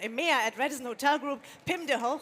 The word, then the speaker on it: Pim de Hooge: at Radisson Hotel Group, Pim de Hooge. Thank you. Is that correctly pronounced? Yes.